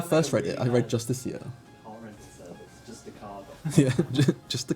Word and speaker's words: Justiciar: J for Justiciar. I wasn't. Did you say Justiciar? That's how you say it. Oh, I've always said it Justicar.